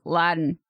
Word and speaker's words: Latin: There is no T nor D. It is Latin.